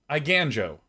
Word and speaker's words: Aiganjo: like what is this iganjo or is it an eigen like an eigenvector or is it eigenhoe exemplar what is this word i gan joe aiganjo rhymes with hi banjo that's zero out of